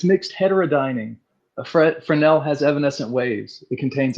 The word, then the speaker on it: Fresnel: So, uh, but it's pronounced frenel. No s sound, but it has an s in it.